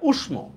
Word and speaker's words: উষ্ম: আচ্ছা right answer হচ্ছে এখানে উষ্ম।